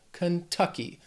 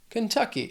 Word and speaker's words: Kentucky: So let's just keep driving on through to the next state, which is Kentucky. This word has 3 syllables. Stress is on that second syllable. Kentucky. Kentucky. The next state, Louisiana.